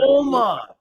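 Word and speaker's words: Ogma: okay and uh his name was what again Omar but it spoke SP it spelled o g m a but it's pronounced Omar because basic the g is silent in IR Omar okay like the OM yeah om script got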